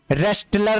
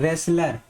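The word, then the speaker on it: wrestler: अगला है रेस्टलर नहीं, यहाँ पे टी वर्ड भी साइलेंट होगा, यानी टी, और इसको क्या पढ़ते हैं, रेसलर।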